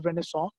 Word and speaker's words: Renaissance: is a French word who show English from pronounce car there's Renaissance but in French its when I saw it means you revival or rebirth if you